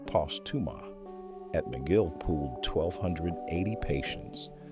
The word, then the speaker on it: Postuma: Then, in 2019, Ron Postuma, pronounced Postuma, at McGill pooled 1,280 patients across 24 centers in 12 countries, the largest RBD cohort ever assembled.